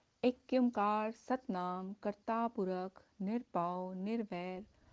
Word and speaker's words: एक ओंकार: एक ओंकार, इस शब्द का शुद्ध उच्चारण है एक ओंकार।